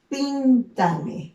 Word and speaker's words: píntame: En el caso de píntame, ¿dónde está el mayor énfasis? Está en la primera sílaba, pin, ¿no?